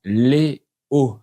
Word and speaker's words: les Hauts: Et on prononce les Hauts sans faire la liaison. Parce que parfois, la lettre H au début d'un mot se comporte comme une consonne. On ne la prononce pas, mais on ne fait